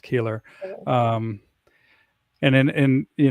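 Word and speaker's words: Koehler: Color. Yeah. Yep. Color dog. Yeah. But it's pronounced Keeler.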